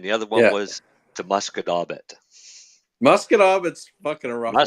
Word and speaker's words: Musquodoboit: Because it was one way was the Shubenacadie and the other one was the Musquodoboit. Musquodoboit's fucking a rough one. Musquodoboit's hard. When people look at Musquodoboit, it's mosquito bit.